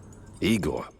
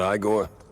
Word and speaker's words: Egor: Egor, not Igor? No, Egor.